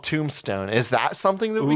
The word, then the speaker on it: 2mbstone: Tombstone. Such a dumb name. People, I can picture uploading that. People are gonna be like, 2-Omstone? Like, they're not gonna know it's Tombstone.